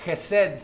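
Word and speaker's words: חסד: Esta palabra en el hebreo, misericordia, Hesed, se puede pronunciar así, se puede traducir amor leal.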